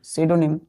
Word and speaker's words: pseudonym: क्या है बच्चों, सीडोनिम, सीडोनिम, सीडोनिम। क्या पढ़ते हैं इसको, प्रोनाउंसिएशन क्या करते हैं, सीडोनिम।